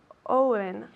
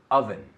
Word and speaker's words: oven: Owen. Okay. Be careful. Oven. So, try it again. Oven.